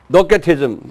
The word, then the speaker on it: Docetism: Docetism, C pronounced K, just like Macedonia. It's actually is a Macedonia. In English, it calls it Macedonia, but actually it's a K sound.